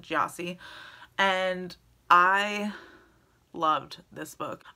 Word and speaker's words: Gyasi: a previous video but I recently watched an interview with her and that's how they pronounce it gyasi and I loved this